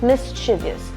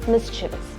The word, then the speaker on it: mischievous: We use it very commonly on a day-to-day basis and we normally say mischievous. However, it is not mischievous, it is mischievous.